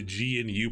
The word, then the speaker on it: GNU: And the goal of the GNU project, I forgot what GNU stands for. Some people will pronounce it GNU. I say GNU because it's weird saying GNU. But GNU Linux was to